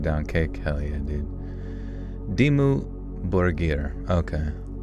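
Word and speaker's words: Dimmu Borgir: Dimu Borger. Okay. Sounds like borier with a soft G, not like burger.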